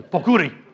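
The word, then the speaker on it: pokkuri: then Japan puuri and you have to say it like that too pokuri correct dialog in all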